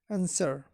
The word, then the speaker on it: answer: g u e doubles guest guests silent w answer tor W error showed sword silent g h